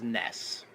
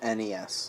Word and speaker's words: NES: The way to pronounce that system, the letters N, the letters E, and the letters S, is NES. No. Thank you. No. Thank you. It's NES. NES. Because it's an acronym.